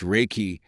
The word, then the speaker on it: Reiki: Reiki, pronounced Reiki, is a Japanese healing technique developed in the early 20th century by Mikao Usui.